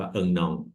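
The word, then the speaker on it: un an: ครับ อ่า เลม เดน่ คำ ว่า ปี นั้น เรา ก็ จะ ออก เสียง ว่า เอิง นอง แปล ว่า ปี นะ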